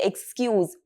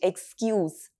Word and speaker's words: excuse: She gave a very silly excuse for being late. Excuse. But as a verb it means to forgive or pardon. And here we're going to use the z sound.